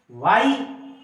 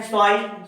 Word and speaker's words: Y: वाई, इसको कुछ लोग बोलते हैं स्वाई, शॉर्टकट। मैंने सुना है कई उच्चारण, कुछ लोग स्वाई, ऐसा नहीं है।